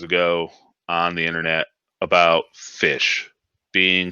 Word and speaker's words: ghoti: something but anyway it it breaks down how geo our gh oti is pronounced fish now the fink noddle